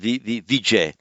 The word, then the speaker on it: Vijay: example they call it Vijay because in the modern languages of Northern India this one's descended from Sanskrit um the final ah is dropped in pronunciation so it would be like that in Hindi and that's how we